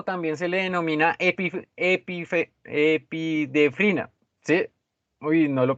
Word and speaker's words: epinefrina: La adrenalina o también se le denomina epidefrina. ¿Sí? Uy, no lo pronuncié bien.